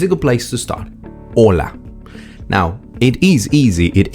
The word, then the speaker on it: hola: them is the H the H is silent in Spanish that's why it's h o l a hola but we don't